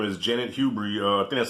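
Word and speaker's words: Janet Hubert: in the room i think her name is janet hubery uh that's how you say her name the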